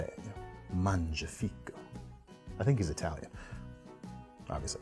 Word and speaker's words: Mangiafico: And really, I just wanted to say that because I know how to pronounce his name right now, and I'm really proud of that. So, gotta say it. Mangiafico.